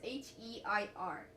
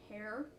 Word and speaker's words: heir: how do you spell how do you pronounce H E I R hair? No. Hire. No, no, no, no. That's not right.